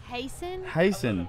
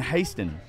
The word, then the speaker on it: Hasen: and Miss Tiffany with Extreme Nashville Buses and Hasen, especially with Live Oak. It's Hasen. I hate his fucking name. I love him. His name's hard to say. Hasen. But I always keep saying Hasten.